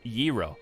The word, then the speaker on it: gyro: were talking about aztecs did it it's pronounced gyro now that's a delicious and tasty food usually